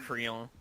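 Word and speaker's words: Krile: Galuf and Krill, or I always called her Krilly, or Kryl. I just kind of mix them I both. pronounce don't it Creel. Creel, okay.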